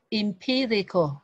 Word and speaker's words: empirical: Ở đây mình có một số từ mới ha, là ở đây mình có từ là empirical, chữ này là chữ em này, mình đọc là chữ im này ha, vì nó không nhận dụng nhấn.